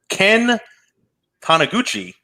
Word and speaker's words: Taniguchi: Ken Taniguchi, I may be saying that incorrectly. No, you are saying it right.